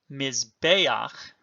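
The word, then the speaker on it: מזבח: Note also the furtive patach under the chet. Remember that that is an aid to pronunciation, but as a vowel, as a furtive patach, cannot take a stress. So mizbeach.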